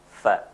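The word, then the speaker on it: ف: Fa. And the best method to articulate, to pronounce it, and to find out from where this fa comes out is to make it what?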